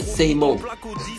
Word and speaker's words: SAMO: Faut ok, donc il le prononce à l'anglais, say mo.